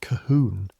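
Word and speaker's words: Colquhoun: Colon is English from West Miland and his name is spelled ridiculously and pronounced Cahoun and he's been in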